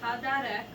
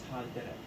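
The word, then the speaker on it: הַדֶּרֶךְ: Yahovah, Elohim, with Sod Tem, Mean, Hadarek, Asher. Wait, which one did I say wrong? it's haderek.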